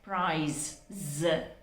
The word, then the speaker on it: prize: It should be pronounced as prize. The first one had to be pronounced with the s pronunciation at the end, but this one has to be pronounced with a z pronunciation, prize.